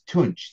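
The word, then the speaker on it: Tunç: and Telescope or T I have a hard time pronouncing that character it's tunch sorry um can be done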